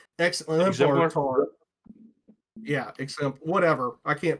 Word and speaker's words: exemplar: No, there's no T. Exemplar.